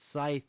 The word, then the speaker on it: Scythe: And look who it is, the man, the myth, the legend, Scythe. Wait, before actually anything else, how do you Yeah, pronounce your name? it's Scythe. It's Scythe.